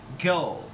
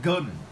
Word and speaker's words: girl: You just keep in mind that we pronounce girl, not gun. Okay, you cannot and you should not, you must not pronounce gun. Okay, because actually we got girl with the prolonged earth sound.